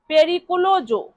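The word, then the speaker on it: pericoloso: তাহলে বিপদজনক এর ইতালিয়ান অর্থ হবে পেরিকলোজো।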